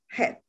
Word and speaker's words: Chet: C-H, but the C is not pronounced. So it's pronounced like Chet.